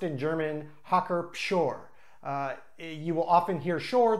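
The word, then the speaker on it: Hacker-Pschorr: this beer brand is hawker shore with a P the P is pronounced in German the German alphabet has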